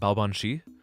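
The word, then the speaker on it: Baobhan Sith: This is um my body pillow is Ban Sith, or if you want to pronounce it like the right way, it's a Banshi from uh from Fate Grand Order.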